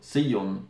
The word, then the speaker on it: Sion: find anyway this is called Sion or Seon probably in German is more correct pronunciation looks like this and